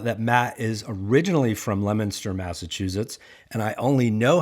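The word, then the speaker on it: Leominster: door so if you're a local it's technically pronounced lemona well yeah of course that's located right next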